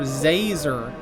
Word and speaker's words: Zazer: It's Professor Zazer, like laser with a Z.